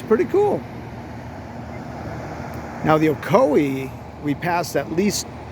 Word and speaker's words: Ocoee: Carolina and found the okoi lake and okoi river here here's the okoi dam and it's spelled ooc c o e e figuring it's ooi there's a little island